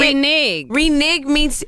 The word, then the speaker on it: renege: to take it's it- renege. Renege is spelled RENEGE. In case you thought it was a renege, it's not. That's why she said, what is it exactly?